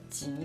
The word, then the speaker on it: 蹐: 很难念的字哈，但是发音中文发音是集合集的这个发音，是同一个